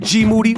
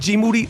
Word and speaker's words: Moody: Rapaport I'm here with G moody whose last name rhymes with duty yep you are now